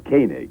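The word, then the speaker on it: Koenig: right okay and here's here he pronounces his name kig okay okay well here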